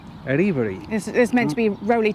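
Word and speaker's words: Erriberri: But it's not actually Eri Berry. And this blew my mind when you worked or found out how you pronounce its name. How's it pronounced? Aribari. Aribari.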